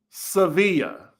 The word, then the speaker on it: Sevilla: It's pronounced Sevilla. Sevilla. Thank you. It's my last name and I dealt with this my whole life.